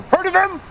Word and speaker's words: heard of him: Heard of him? Ага. Помните, мы эту интересную вещичку уже много раз разбирали. Heard of him. H не произносится в разговорном английском. Читается как heard of him.